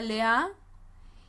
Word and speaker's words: Lea: vida de lea lea cuyo nombre en hebreo eh se pronuncia lea y su nombre se